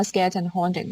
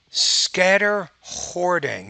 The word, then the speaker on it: scatter hoarding: so this is how skeleton holding works yeah it's that word is it scatter hoarding i think you're saying so this is how skeleton holding works scatter hoarding you're not quite pronouncing that term okay so i i